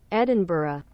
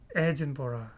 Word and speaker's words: Edinburgh: together let's listen I'm I'm pronouncing probably Russian pronunciation that's why Edinburgh Edinburgh what are you serious Edinburgh Edinburgh since then Edinburgh addin BAH are you in your mind the more I'm listening the more it make no sense for me I was pronouncing in Russian way always edin ah she's telling pretty bad like Eden B like it's so annoying